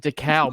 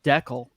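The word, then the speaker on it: Dekal: I pronounce it DeCal, but I think it's Deckel.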